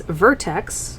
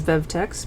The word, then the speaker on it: Vertex: We have GG series Vertex, which I always mispronounce as Vevtex because of how the icon looks.